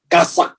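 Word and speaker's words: חשק: Tulisannya CHASAK di belakang. Ya. Kasak, bacanya kasak.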